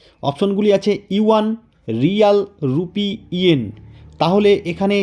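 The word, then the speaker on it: 元: নাম হলো রুপি তাহলে এখানে বন্ধুরা মনে রাখবে ইউয়ান এবং ইয়েন এই দুটির শব্দের উচ্চারণ কিন্তু একই ইউয়ান হলো চীনের মুদ্রা এবং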